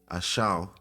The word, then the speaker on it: Esau: And Esau, how you say his name is Ashau before his name was changed. Ashau.